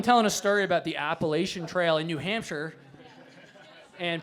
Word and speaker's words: Appalachian: that one tomato potato appal appalachin that's the most common one by far always that up it's pronounced Appalachian I'm G to throw an Apple at you correct see that's what